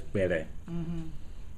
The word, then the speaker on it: Kpelle: isolated that they became Pele people. So How you spell that? Kpelleh. Okay. The K is silent for most.